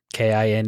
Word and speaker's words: Kine: Kine, is that how you pronounce it?